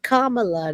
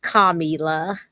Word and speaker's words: Kamala: Comma, like you put a comma in. Kamala, not Kamila. No.